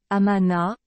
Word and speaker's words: Amon: Prononcé Amana, en égyptien ancien, le nom Amon signifie « caché » ou « invisible ».